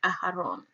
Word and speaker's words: Aaron: Aaron is found in Strong's H175, and it is pronounced Aharon.